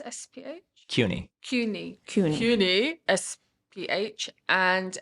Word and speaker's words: CUNY: Now, excuse my pronunciation. Is it Quinis? SPH? CUNY.